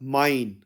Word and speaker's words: mein: German में translate करेंगे तो यह हो जाएगा माइन माइन और माइन के स्पेलिंग इंग्लिश में एम ई आई एन के